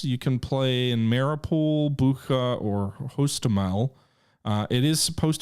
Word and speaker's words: Bucha: Bucha is how you pronounce it.